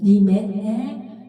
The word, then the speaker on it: 님의: 넣어주세요 메 에에음 님에 님에 이렇게 해 주세요음 님의 하면은 발음이 안 돼 갖고 노래가 안 돼요 에에로 해주세요 에에 아 니 여기